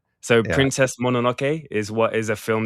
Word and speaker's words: Mononoke: Mononoke.